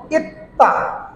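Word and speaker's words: 있다: সি যেমন ইত্তা ইত্তা এটা কি উচ্চার হলো ত কারণ কি এটা শব্দের নিচে গেছে এই যে নিচে দেখেন এর নিচে গেছে এটা বাচ্চি বাচ্চি গেলে তখন হবে ত নিচে গেলে হবে ত উপরে গেলে হবে দন্তস এখানে ইত্তা মানে হলো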